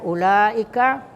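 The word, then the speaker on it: أولئك: Kemudian ulaika, ya, itu ada mad di atas lam, ya, ketemu dengan hamzah dalam satu kata, ya, itu disebut mad wajib muttasil.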